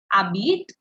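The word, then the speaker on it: habites: informal who U AB H is silent h is silent please don't pronounce h AB Vu U AB V AB V this was the formal way and now let's look at the informal Abit T Abit o Abit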